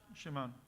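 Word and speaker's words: שמעון: Shimon. Ok, bueno, la pronunciación aquí fonética es Shimon, o Shimon.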